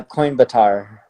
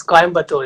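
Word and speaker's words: Coimbatore: hear it from you uh coin Batar coin Batar yeah that's coin batur actually okay good one okay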